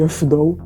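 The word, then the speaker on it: Afdal: Aziz se escreve A-Z-I-Z e Afidal A-F-D-A-L.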